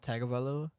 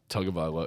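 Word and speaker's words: Tagovailoa: say tongue foreign yeah it's actually how it's pronounced I'm pretty sure it's not tag about level it's like tugavala it's tug of Iwo so no I was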